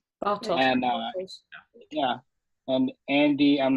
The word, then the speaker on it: Bartos: Bartos. Bartos.